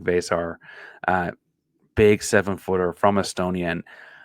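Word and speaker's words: Veesaar: I was correct on that pronunciation this week. Vesar, big 7-footer from Estonia.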